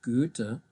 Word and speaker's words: Goethe: There's another one here which is pronounced Goethe, so that's also an Ö, and this is really rare.